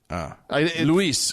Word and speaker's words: Luis: Luis is would be how you pronounce that name, by the way, if he's Spanish.